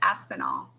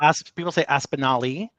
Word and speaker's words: Aspinall: The way I just said it, Aspinall. That's 100% right. Nice. People say Aspinali. Because I'm Italian, they add an I on the end. People say Aspinwall, they add a W in there.